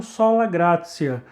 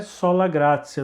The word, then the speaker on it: sola gratia: É exatamente assim que se pronuncia. Você pode estar estranhando porque tem um T aí, né? A pessoa pode pronunciar sola gratia, né? Mas a expressão latina é sola gratia. Não dá para explicar o princípio do latim, do porquê que tem esse som de C, né?